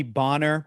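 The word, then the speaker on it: Bohner: like bonner it's bonner my name is pronounced bonner but he's trying to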